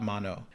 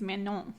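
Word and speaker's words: Manon: Oh, I thought that the last N was silent. It is man. Mano. That's what I said.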